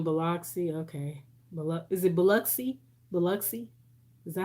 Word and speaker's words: Biloxi: and you in biloxi okay is it biloxi biloxi is that how you say it yeah i